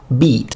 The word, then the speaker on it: bite: of this for instance the word bite we see that the I is indeed pronounced I but then some other times it's pronounced it like in sit well in late Middle English before GVS it was pronounced e so you would read it beat all the time so very